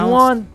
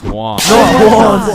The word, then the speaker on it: Juan: That's just how it's pronounced. Juwan? Is there Juwan in the room? It's Juan.